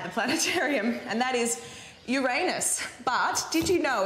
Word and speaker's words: Uranus: kids here at the planetarium and that is Uranus but did you know it's actually pronounced Uranus which I also think is pretty funny in